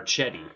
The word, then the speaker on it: Cedi: Love Cedi. I think, or Chetty. Sorry, Craig told me how to say it.